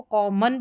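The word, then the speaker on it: common: ओ एन जो last में ये ओ एन आ रहा है। इस ओ का उच्चारण अ करके होता है। मोस्टली जब इस तरीके से आखिर में जब ओ आता है तो अ करके इसका उच्चारण होता है अधिकतर स्पेलिंग्स में। तो इसको कॉमन करके पढ़ा जाएगा।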